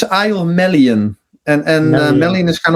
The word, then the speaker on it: Melian: It's it's a Melian. And and Melon is kind of also uh some people say Milan or or a million or and I can totally understand.